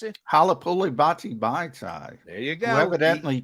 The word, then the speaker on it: Halapoulivaati Vaitai: You can pronounce it? Halapoulivaati Vaitai.